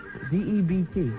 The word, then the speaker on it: debt: A special debit of gratitude to Steve Gorillo. A special what? A special debit? Debit? Spell the word. D-E-B-T.